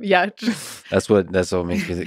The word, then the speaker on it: Giertz: Pronouncing my last name, Yatch.